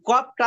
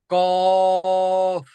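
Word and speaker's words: ق: এই কফটা উচ্চারণ হবে কিভাবে?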